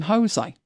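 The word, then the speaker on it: José: lot because when um Jose Mourinho was in charge at United a lot of people called him Jose so there's Jose and Jose and obviously it's spelled the same and he was definitely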